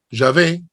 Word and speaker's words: Yahvé: Sí claro Ah okay sino que nosotros en español la W la pronunciamos B decimos yah no y